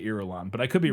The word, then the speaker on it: Irulan: Yeah, so when I was reading it, I pronounced it Irulian, but there's no I. It's just Irulan.